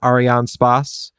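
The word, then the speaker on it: Arianespace: before uh French Guana Arian Spas I think is how you're supposed to pronounce it's French um they have their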